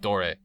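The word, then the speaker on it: Doré: etch on big metal doors when his name is door but dor I believe is the correct pronunciation um what is it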